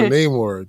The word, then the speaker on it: Namor: And I'm not pronouncing it the MCU way because he's not the MCU character. And so Namor, just one of my all-time favorite characters, quite honestly.